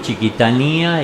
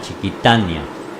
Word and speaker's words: Chiquitania: Pero es verdad que decimos Chiquitanía y parece que gramaticalmente se debe pronunciar Chiquitania, Amazonia.